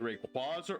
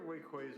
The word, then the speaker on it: Rayquaza: Is it Rayquaza or Rayquaza? I hear Wayquaza a lot. I don't know. I think it's pronounced Rayquaza.